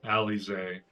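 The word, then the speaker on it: Alisaie: Al, how are you feeling? Alise. Okay, I've been saying it wrong.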